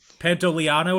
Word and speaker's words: Pantoliano: Also, the fifth starring actor in this movie, Joe Pantoliano. Pantoliano is actually how I pronounce it.